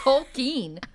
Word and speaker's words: Tolkien: You said Tolkien. What the fuck is wrong with you? It's Tolkien. It's like an I. J.R.R. Tolkien. J.R.R. Tolkien is how you say.